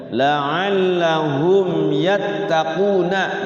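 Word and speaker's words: لَعَلَّهُمْ يَتَّقُونَ: Jangan sampai dibacanya didengungkan la'allahum yattaqun. Nah, itu kurang tepat ya. Bukan kurang tepat lagi, salah ya. Jadi dibacanya didengungkan, tetapi diizharkan, jelaskan.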